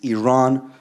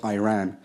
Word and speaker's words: Iran: Our country is named Iran, not Iran. Please, once and for all, let's get this clear.